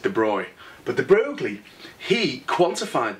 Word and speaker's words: de Broglie: travels as waves and de broglie you pronounce it the broy but the broglie he